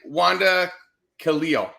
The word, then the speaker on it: Wanda Khalil: FAS Al alheim yep you got it and Wanda Kalo yes sir you got it oh God bonus